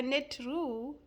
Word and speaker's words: Neteru: The Neterus is is the net ru is spelled by n e t e r u.